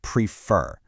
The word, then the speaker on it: prefer: On the left, listen to the word prefer. See how the stress is on the end?